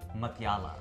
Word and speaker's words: Mutyala: sitting here with Deepica Mutyala. You said it right. I nailed it. We were talking about, is it a tuh sound or a thuh sound?